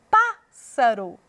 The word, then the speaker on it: pássaro: para um tal Florestal na palavra pássaro veja só pássaro Opá é pronunciado dessa forma com mais ênfase na palavra filhote pior